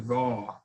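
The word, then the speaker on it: Vau: It's generally V-A-U, Vaw.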